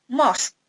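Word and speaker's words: mosque: Rumah Sakit move masjid jadi Bacanya jangan Mouse kyouya membacanya most Ride and dan sport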